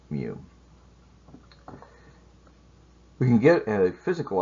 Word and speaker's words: mu: And mu is, like we said, pronounced mu.